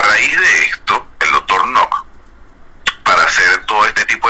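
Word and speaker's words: Knoche: Allí, en la época, a principios del siglo XIX, llegó un señor alemán, cuyo apellido era el doctor Nock, se escribe K-N-O-C-H-E, pero acá en Venezuela quedó como el doctor Canoche.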